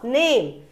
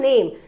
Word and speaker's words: name: Just I'll start with this one, name. So the long vowel sounds is the name. We don't say this E here. We don't pronounce this E. E is silent here.